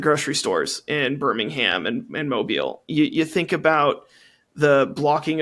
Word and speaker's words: Mobile: I've been to Mobile. I've taught students who are directly affected by these policies. So I had the urge to be like, it's pronounced mobile.